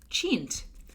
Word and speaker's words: chintz: honey says it's pronounced so honey chint so honey says it's pronounced chint in hindi so honey you know